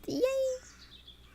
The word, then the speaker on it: yea: Yeah means indeed, and pronounced yay.